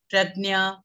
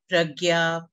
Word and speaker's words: Prajnya: can't pronounced instantly yes pradnya pragya pradnya and the way we say it because of the URL spelling so um when I